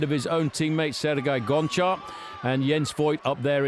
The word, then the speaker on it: Gonchar: about Gonchar's name recently, whether it's Gonchar or Honchar. He himself actually calls himself Gonchar, and he would like us all to accept that. I think it's the way you pronounce the G in his language. It sounds like an H.